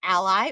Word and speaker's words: a11y: It can be pronounced either ally or accessibility, whichever you prefer, and it's just our